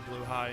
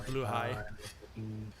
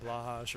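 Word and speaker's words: Blåhaj: curiosity did you know that's how it's pronounced because it's Swedish it's a blue high I know a lot of people have been pronouncing it like blah hash or whatever but it's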